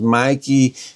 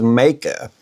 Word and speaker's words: Meike: I have been calling this lens Mikey. Mickey have called it all kinds of things. They've all been wrong. I looked up the correct pronunciation is makea and I think they did that because if